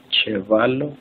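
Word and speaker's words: ĉevalo: La C con circunflejo, como la Che del español. Chevalo, chambro.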